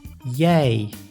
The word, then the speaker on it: jij: I plus J is also pronounced as I, like in the word jij, which means you.